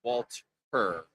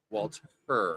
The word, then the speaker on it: Walter: It's actually pronounced Walt her. Walt her. W her. Yes, please pronounce the H, sir.